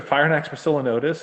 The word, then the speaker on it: Phrynonax poecilonotus: They not only he said these are Phrynonax poecilonotus, and like you pronounced it properly.